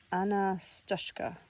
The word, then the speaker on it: Anastoshka: Pronounced Anastashka.